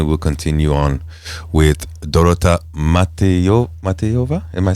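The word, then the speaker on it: Matejová: and then we will continue on with Dorota Matejova. Am I saying it correctly? Yes, Matejova.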